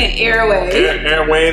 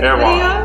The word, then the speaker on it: Erewhon: I was actually spelling it, I was pronouncing it wrong this entire time. I was saying it's an Airway. Airway, but I finally got it right. Oh, you got it right for Erewhon.